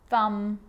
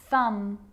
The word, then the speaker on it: thumb: musically logically now there's a rule to remember with the letter b it's always silent when it follows the letter m climb crumb lamb thumb dumb and plummer so practice them with me i'm not pronouncing the b i'm just pronouncing the m consonant sound climb crumb lamb